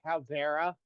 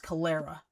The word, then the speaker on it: Calera: Are you looking at the one near Caldera? Uh, Calera? Calera. It's pronounced Calera.